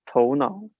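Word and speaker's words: 头脑: have is spelled t-o-u-n-a-o it's pronounced as tonal yes so tou part is toe so that means the the literal head and the second part is now I think the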